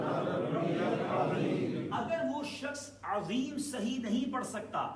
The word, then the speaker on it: عظیم: اگر وہ شخص عظیم صحیح نہیں پڑھ سکتا، عین اور ضا یہ تھوڑا مشکل ہے، اس کے تلفظ ہونا ضروری ہے.